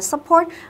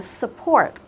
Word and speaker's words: support: như thế là sai nhớ không đọc là support mà là support should Wear đặt như thế có nghĩa là gì có nghĩa là cái chữ u ở đây nó không được nhấn đúng không duyên cái từ này thì cái trọng ông của nó chúng ta sẽ nhấn vậy ông thứ hai lấy trọng âm của từ này sẽ Nhấn vào âm tiết thứ 2 thì cái ông đầu